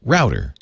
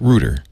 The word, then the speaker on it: router: going on so in in Australia they pron it router in Britain where the connotation doesn't exist they pronounce it rder okay I don't care